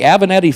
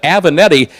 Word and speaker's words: Avenatti: And if you notice, Peter will pronounce the name Avenatti. And we asked David about that one time. David smiled and nodded his head. He said, technically, in the old country, Peter Galassi is correct. Back in the old country, it would have been pronounced Avenatti, back in Italy proper. But it's kind of become slightly Americanized over the years to Avenetti.